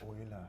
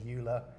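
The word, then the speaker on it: Euler: Oiler. That's how you pronounce it. Yes. But lots of people pronounce it as Ula. It's actually Oiler.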